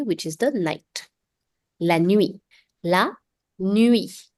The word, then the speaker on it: nuit: La nuit.